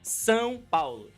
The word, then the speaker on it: São Paulo: But the state is São Paulo. São Paulo. São Paulo. São Paulo. Yes. Yeah. São Paulo.